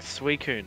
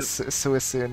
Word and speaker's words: Suicune: It makes sense though, because, like, who would think with all those, like, little S sounds that the C would be pronounced, like, as a C?